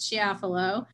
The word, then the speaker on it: Chiafalo: case is to follow or as the chief pronounced it she affalo the wat the state